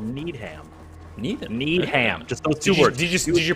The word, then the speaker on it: Needham: in a town called needham neither did you pronounce it need him or did you pronounce that need him need him you say neither need